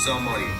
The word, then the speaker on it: sommelier: And you can say sommelier. If you're looking for a lighter game that has the same... Oh my gosh. Sommelier, with the typical French Sommelier. pronunciation, it would be sommelier.